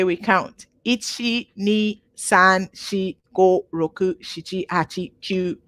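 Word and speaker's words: 四: Ichi, ni, san, shi, go, roku, shichi, hachi, kyu, ju. Okay. But something happens with a couple of the numbers. Okay. Shi happens to be the Japanese, also the same pronunciation for death.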